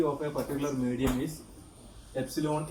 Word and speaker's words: epsilon: Suppose that the permittivity of a particular medium is epsilon m. This is pronounced as epsilon.